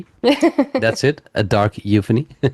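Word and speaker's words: Euphony: A dark euphan. I'm glad you said it cuz I've been mispronouncing that for almost two years now. How have you been pronouncing it? Um, I said, uh, you phony, which sounds like you're fake, which is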